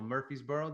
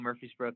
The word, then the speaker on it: Murfreesboro: you're from Nashville right or just outside Nashville Murphysboro that I see yeah yeah that's right you pronounced it correctly as well brownie point yeah good old Murfreesboro Tennessee is where I'm from okay you get